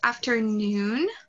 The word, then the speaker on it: afternoon: Ali alright so just a little tip ok so the pronunciation is afternoon okay the the emphasis is on the noon okay I am